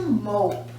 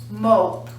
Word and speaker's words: mope: As soon as we add the silent E to the end, changes from mop to mope. Mop, mope. Consonant, vowel, consonant, short O.